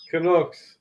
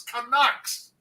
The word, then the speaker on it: Canucks: Canucks. It's Canucks.